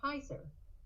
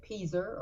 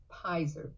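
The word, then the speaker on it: Peiser: she had chosen to do it i'm piser a lot of people mispronounce pizzer they say peaser or something else but it's piser p-e-i-s-e and there's making sure we know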